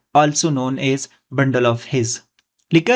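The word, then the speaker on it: His: या इसको हम बोलते हैं bundle of हिज। एच आई जेड।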